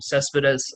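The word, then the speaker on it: Céspedes: Cespedes. I know his Linus last name. Cespedes.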